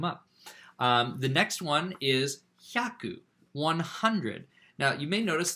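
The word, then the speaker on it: 百: This is 2 syllables, not 3, like hurry is hayaku. 100 is hyaku, hyaku, 100. Anyway, hyaku, it can also sometimes be pronounced byaku, or occasionally pyaku, but, you know, that's less common.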